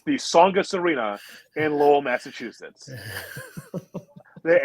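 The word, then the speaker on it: Tsongas: that's right it's the songest arena in lowell massachusetts the and by the way the t is silent and songous oh okay good to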